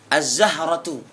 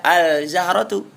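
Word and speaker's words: الزهرة: assadis yang ke6 Zai azzahratu tidak boleh dibaca alzahratu Apa arti Zahrah bunga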